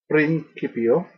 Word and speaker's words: principio: In principio, the C in Latin is pronounced always as a hard C, as in cat, never a soft, as in city.